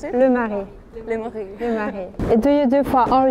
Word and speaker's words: Le Marais: Le Marais, how do you pronounce it? Le Marais.